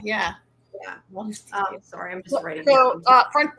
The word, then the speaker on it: Justicia: I'm guessing is how you pronounce it. Justicia, yeah. Yeah. Justicia.